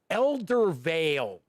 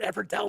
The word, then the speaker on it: Eldervale: ultimately dwell ever see i knew i was going to say it wrong elder vale i keep wanting to say everdell it's not ever tell jeff stop i don't